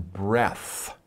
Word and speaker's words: breath: breathe in and breathe out that is one breath okay so when you talk about a breath